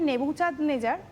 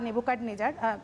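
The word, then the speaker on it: Nebuchadnezzar: এবং তোমরা ব্যাবিলনকে আরও ভালো চেনো, যে সেখানে নেবুচাঁদনেজার বা নেবুকাডনেজার, উচ্চারণটা যেহেতু বাংলা উচ্চারণ নয়, কাজেই অনেকে দুরকমই করতে পারি আমরা।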